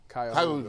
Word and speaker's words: Cuyahoga: And in case you're not sure how that's pronounced, it's Cuyahoga Community College. Cuyahoga.